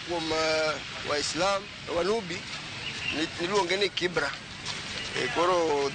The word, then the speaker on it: Kibra: Waislam Wanubi niluonge ni Kibra. Koro that's the originality of it. But mane okuche obiro to gi jok mamoko to pronunciation no change from Kibra to Kibera. But sanino bedo rectified oduoke kuom Kibra.